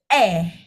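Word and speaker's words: 애: Nah, jadi huruf ini atau Hangul ini, huruf vokal ini, itu bacanya E.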